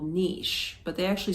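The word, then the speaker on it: Niš: like no I s but they pronounce like with an H so if you want to look it up on the map Niche Serbia it's the southern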